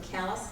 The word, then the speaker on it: Calais: the children of Captain Vaughn and his wife Ann from callus Maine it looks like Calais you know how